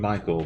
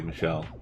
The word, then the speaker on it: Michel: I've been calling you Michael, but sorry, Michel.